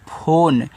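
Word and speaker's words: phone: पी एच ओ एन ई, इसको पढ़ते हैं फोन, तो देखो पी एच से आपका फा हुआ, ओ से ओ की मात्रा फो, एन से आपका ना, इस ई का उच्चारण नहीं कहना।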